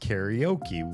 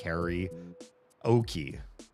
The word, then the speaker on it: karaoke: There's no e sound after the r. It's ka.